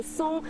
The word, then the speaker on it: 嵩: ，你看它一个山下面一个高，但是念松，这个字有什么来历吗？